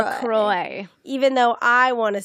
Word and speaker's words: LaCroix: And we did just confirm that it's pronounced LaCroix. LaCroix. Even though I want to say LaCroix.